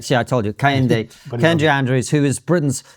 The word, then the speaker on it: Kehinde: And I will get this your name wrong even though you corrected me and I want to get it right. Kahende Kayendi. K. See, I told you. Kayende Kendra Andrews who is Britain's first professor of